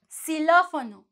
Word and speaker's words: xilófono: So you would say, when it's in the beginning of the word, you're going to have the sound S. Xilófono.